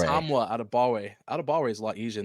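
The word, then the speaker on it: Adetomiwa Adebawore: Adetamwa Adebawore. Adetamwa Adebawore.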